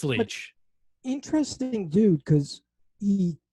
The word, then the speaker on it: Leitch: David Leitch. David. Okay, Leitch. Is that how you say it? It is, yeah. David Leitch. I know the spelling throws you off.